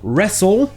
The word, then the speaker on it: wrestle: Le T muet. Il existe des mots où le T ne se prononce jamais, comme par exemple les mots qui se terminent en STLE, comme le verbe to whistle, qui veut dire siffler, ou encore wrestle, qui veut dire lutter.